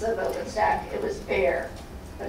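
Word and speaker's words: Bexar: open stack it was bear but it's not how you think it is it's b x a r why because in Spanish x is silent in San Antonio Texas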